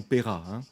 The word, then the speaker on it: Peyrat: Peyrat j'ai quelque chose je prononce à la française Napoléon paiera celui qui a réhabilité